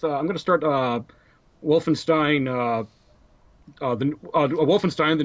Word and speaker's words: Wolfenstein: the second letter like EI is pronounced I as in Stein and i e is pronounced e as in WEA okay there you go but yeah Wolfenstein New Order is a